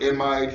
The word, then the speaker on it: amide: let's go to am some people call it amide some people call it